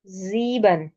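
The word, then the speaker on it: sieben: इसमें फ्यूनफ जेक्स जेक्स जीबन आई ई की साउंड ई की है और सेवन को हम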